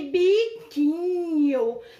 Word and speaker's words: biquinho: A palavra biquinho também, gente, ó, o U, ele não é pronunciado.